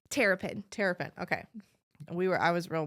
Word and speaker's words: Terrapin: And how do you pronounce your last name? Terrapin.